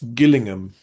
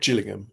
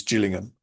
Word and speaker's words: Gillingham: Uh there is another uh place spelled the same in England, but that's Gillingham, not Gillingham, but anyway, the one in Kent is Gillingham.